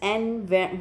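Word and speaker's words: Anne: हैं इसको एनी, कोई बहुत सारे बच्चों एन बोलते हैं, तो इसमें कोई प्रॉब्लम नहीं है, आप एन बोलिए एनी बोलिए, ठीक है।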